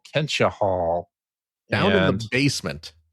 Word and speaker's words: Kentia Hall: what is your favorite Kentia Hall memory? Kentia Hall memory. Kentia Hall. Kentia Hall, by the way. Who's saying Kentia, man? I was making a joke by mispronouncing it. Kentia Hall.